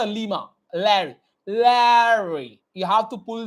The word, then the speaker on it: Larry: R sound is like a R. Larry. No, it's not like that. Larry. It's a R sound should be a silent. उसका जो pronunciation होता है वो थोड़ा सा shortcut में होता है. Larry. ल को खींचना है, र को शॉर्ट करना है.